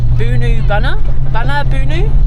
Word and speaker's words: Boonoo Boonoo: We are on our way to, I know it's not called this, but it's spelt Boonoo Boonoo, but I'm pretty sure I looked yesterday and it was pronounced Boonoo Boonoo.